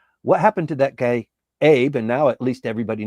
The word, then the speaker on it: Abe: What's going on in Japan, and what happened to that guy Abe? And now at least everybody knows how to pronounce his name. It's Abe.